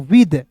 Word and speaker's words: with: अब देखिए यहाँ पे WITH पढ़ेंगे दोस्तों विद। W का वो, आई है तो ई के रूप में उच्चारण करेंगे। यहाँ पे TH है ना जी, तो इसका उच्चारण द के रूप में करेंगे।